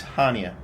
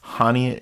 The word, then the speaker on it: Chania: It's Chania. It's spelled Chania, but they call it Chania, so we'll call it Chania.